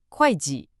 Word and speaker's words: 会计: The accountant, 会计, 2 fourth tones, and the business person, 商人, a first tone and a second tone.